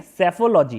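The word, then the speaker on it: psephology: ये जो पी जो है ना, ये पी साइलेंट है, ठीक है। सेफोलॉजी क्या बोलेंगे?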